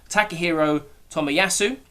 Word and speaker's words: Takehiro Tomiyasu: And I believe it's pronounced Takehiro Tomiyasu.